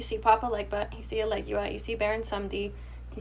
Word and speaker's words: Elegua: Eligua. Elegua? Just Eligula? just think about it for two. You're rushing it. Just think Well, about it's the pronunciation. Elegua.